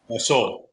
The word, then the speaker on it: Seoul: Seoul? Soul. Yep. Soul. Yep. Soul Station. I almost called it Soul Train. That's the same. Same pronunciation.